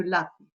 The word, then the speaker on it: lápiz: J'ai appuyé sur tengo, sur le ten et la de lápiz.